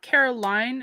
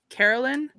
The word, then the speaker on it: Carolyn: Because her name's not it's not Caroline, it's Carolyn, but it's I French, mean- so it's the same name just pronounced differently.